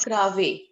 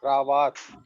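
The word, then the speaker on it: cravate: Wherever we have this a, what is the sound? Ah. Ah. Cravat.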